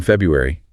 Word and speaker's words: February: My birthday's in February.